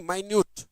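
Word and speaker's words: minute: सूक्ष्म मिनट नहीं माइन्यूट एडजेक्ट noun के रूप में मिनट होता है। एडजेक्टिव के रूप में माइन्यूट पढ़ते हैं।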